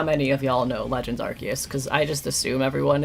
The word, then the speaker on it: Arceus: on another stream, but the only Pokemon where they've really come out and said how to pronounce it, because they didn't want people to think it was Arse, because they don't want God to have ass in the start of their name.